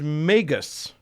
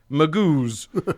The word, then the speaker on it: Magus: The singular is Magus, spelled M-A-G-U-S, which I really want to pronounce Magoos, but whatever.